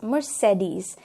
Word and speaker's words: Mercedes: Mercedes is the correct pronunciation for this particular brand, लेकिन हम इसे Mercedes बोल देते हैं, but the correct pronunciation becomes Mercedes.